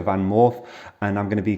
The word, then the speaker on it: VanMoof: Did you know that in Dutch it's double O makes a long O sound, which is or, so it's actually a VanMoof, and I'm going to be comparing it to the Cowboy, which everybody does.